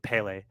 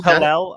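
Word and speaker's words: Pelle: I hear you saying Pele, and maybe I'm pronouncing it wrong. It's Pele or Pale? It's Pele. I think it's Pele Larson. Okay, cool, brother. I thought it was Pelel.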